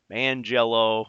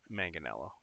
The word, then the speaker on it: Manganiello: certain Joe of Manganiello, Joe Mangello. No, it's Manganiello. He always makes fun of the fact that people can't say his name.